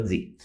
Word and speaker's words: the: né que falamos português eu vou ter aqui duas pronúncias né uma vai ser the e a outra vai ser the né então eu tenho a mesma palavra com duas pronúncias um é o The e o outra é di então tá bom né